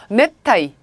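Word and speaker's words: 熱帯: 카이하츠가 스스미 개발이 계속돼서 네타이 우링이라고 해서 그대로 음독하시면 되고요.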